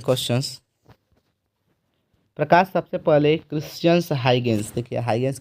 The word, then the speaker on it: Huygens: प्रकाश सबसे पहले Christians हाइगेंस, देखिए हाइगेंस के स्पेलिंग HUYGENS होता है।